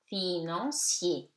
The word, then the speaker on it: financier: Financier. I-A-I-E, four vowels, so polysyllabic, and it becomes financier.